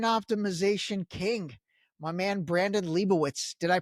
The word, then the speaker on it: Leibowitz: We've got the search engine optimization king, my man Brandon Lieowitz. Did I pronounce Liowitz correctly?